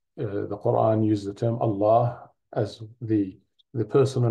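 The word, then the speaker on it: الله: ah H often pronounced Allah but actually the proper pronunciation is Allah so the emphasis is on the L or the double Allah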